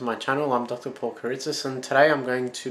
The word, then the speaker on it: Eurydice: Paul Eurydice, and today I'm going to be presenting you with my version of the myth of Orpheus and Eurydice, or Eurydice in Greek, which is the correct pronunciation.